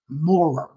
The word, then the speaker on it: Maurer: Because my last name is now, when it used to be Maurer. Ooh, hated that name. Up north, they pronounced it Moorer.